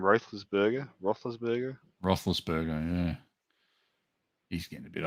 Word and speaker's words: Roethlisberger: say this to his name ruthless burger roethlisberger roethlisberger yeah he's getting a bit old didn't he